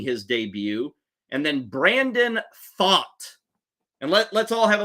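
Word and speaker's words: Pfaadt: a a d t that is not pronounced fat okay it's Brandon thought the right-hander for the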